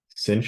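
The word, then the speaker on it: sinh: sin h of X this is usually pronounced cinch of X like almost like if you were to say cinch a you know draw string or something like that so cinch of X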